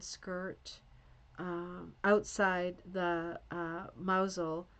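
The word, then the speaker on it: Mousehole: So, she's got the brown sweater and the plaid skirt um outside the uh mausole which is spelled like mouse hole.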